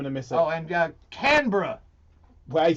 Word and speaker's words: Canberra: Oh, and Canberra. Well, he said it right. Canberra.